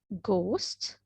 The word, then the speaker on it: ghost: What, when, why, which, whether, ghost, honest, hour, while, white, where, rhythm, right?